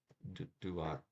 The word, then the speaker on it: Duat: Duat is pronounced Duat, appears in Tuat, or whatever.